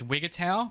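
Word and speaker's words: Wigutow: I looked up how to pronounce this and it's Wigatau but that sounds really stupid in my accent so I'm going with Wigto.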